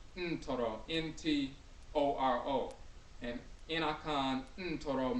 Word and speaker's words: Ntoro: So NTR is not neter, and Akhan is pronounced Ntoro. The N is nasal. Ntoro, N-T-O-R-O.